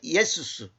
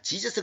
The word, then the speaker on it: Jesus: 다시 말하면 just 예수스. 응? 영어로는 just Jesus 그러잖아. Jesus 그건 발음이 잘못된 거고 그 제우스하고 동일하게 하기 위한 그 마귀의 그 전략입니다.